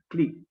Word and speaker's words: Qlik: There are tools for business intelligence like QLIK, click, QLIK. It sounds click. The pronunciation is click, and then some other tools that are available on the cloud.